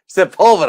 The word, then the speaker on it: Sepulveda: Ventura Drive and I'm trying to learn how to How do you say pronounce that? Sepulveda. Sepulveda, that's it.